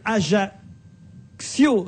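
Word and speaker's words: Ajaccio: Dominique me dit que AIO se prononce comme accident et que Bonifacio se prononce comme incident et qui je ne dois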